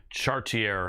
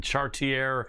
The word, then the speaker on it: Chartier: Tyson Chartier. And I pronounced that the way he requested, just in case you think I didn't. Tyson Chartier, welcome to the show, brother.